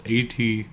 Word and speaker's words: Atgeir: I don't know if that's how you pronounce that. It's Atgeir.